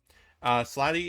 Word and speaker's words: Slaadi: Slady is spelled Slaadi. That's the plural form.